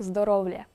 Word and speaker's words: здоров'я: місті йота епентичного л що на практиці означає вимова слова здоров'я як здоровля Дай боже здоров'лячка Дай